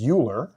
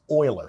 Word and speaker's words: Euler: Last name is uh it looks like the last name is uler but actually it's pronounced oiler.